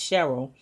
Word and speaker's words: Shirl: a book and seeing the name Shirl which is pronounced Cheryl but she pronounced it Shirl because she's from the south and so that's basically